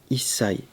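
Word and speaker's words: 一歳: En fait, quand on combine ichi et sai, ça donne issai.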